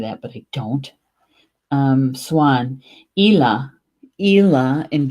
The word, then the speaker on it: Eala: but I don't Swan ela ela and Gaelic ei L a ela in Gaelic this one hmm all